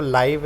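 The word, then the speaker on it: live: मतलब जिद्दा, यहाँ पर जो लाइव है इसको लाइव पढ़ेंगे, लिव नहीं पढ़ेंगे।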